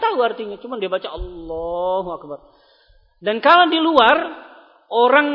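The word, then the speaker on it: الله أكبر: sudah belajar bahasa Arab tahu bacaannya bukan Allah itu Allahu aslinya enggak boleh disukun kecuali kalau memang dia di ujung maka kita baca sukun Allah tapi kalau disambung bacanya Allahu akbar enggak boleh baca Allah akbar Apa maksudnya kalau di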